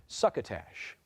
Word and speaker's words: succotash: eat succotash by topping it with melted cheese suckatash language origin please this word is of alanin